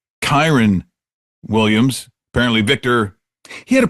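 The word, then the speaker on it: Kyren Williams: And by the way, it's pronounced Kyron Williams.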